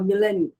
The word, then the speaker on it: Milan: Is it Milan or Milan? How do you pronounce it?